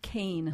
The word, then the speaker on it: Kean: Kea an you say Keen or Kan it's actually pronounced Kane okay like the former Governor exactly same spelling so unidentified flying objects